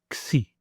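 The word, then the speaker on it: ξι: we say it together, we will say the name of this letter. So that will be Xi. In order to pronounce it in a word in Greek, we're going to take the K and the S from the English alphabet and we're going to make the sound X, X, as in the word fax and box.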